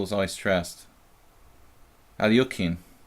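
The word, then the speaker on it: Алехин: Alyokhin, right? Alyokhin. That's what I heard real, authentic Russian masters say. My friend from Leningrad, he says Alyokhin. I'm pretty sure that's relatively close.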